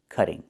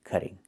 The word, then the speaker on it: cutting: And in America, we change the t to a fast d when it's between vowels like this. Cutting. Cutting. Not cutting, but cutting.